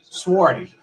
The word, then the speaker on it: swarthy: And if you look up the word swarty, it's spelled Swarthy. Swarty.